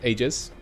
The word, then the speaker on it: aegis: be sitting on this aegis or aegis that's the pronunciation i checked and chad told me but yeah um well